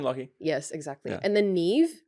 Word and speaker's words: Niamh: And then Niamh, the name Niamh, which is such a beautiful name to say, but the spelling is completely not what it looks like.